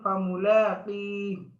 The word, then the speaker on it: فملاقيه: إلى ربك كدحا فملاقيه এখানে দেখেন ফামুলাকি লাস্টে একটা হা হ্যাঁ এখানে তো আমরা হাই উচ্চারণ করব কিভাবে এই অর্থাৎ হার উপর আমরা সাকিন দিয়ে দেব যখন আমরা ওয়াকফ করব তখন হার উপর অটোমেটিক সাকিন হয়ে যাবে হ্যাঁ অথচ এখানে হার